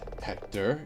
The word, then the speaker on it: Hector: Hector, your name's rhymes with director.